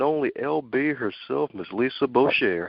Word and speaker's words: Boucher: the one and only lb herself miss Lisa Boucher how are you today ma'am I'm doing well